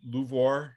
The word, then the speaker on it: LUVOIR: next generation which is i'm always afraid of how to pronounce this song luvvoir and is that right yeah so so the